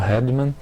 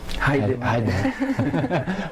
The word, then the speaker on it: Heidemann: Agradeço a professora Patrícia Vendramini pela presença, professor Francisco Hedman, agora pronunciei correto? Heidemann.